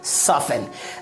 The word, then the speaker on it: soften: अगला example SOFTEN, क्या पढ़ेंगे, सॉफन।